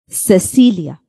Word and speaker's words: Cecilia: When C, the alphabet C is before E and I, it has the soft C sound. Let's look at two words. Cecilia.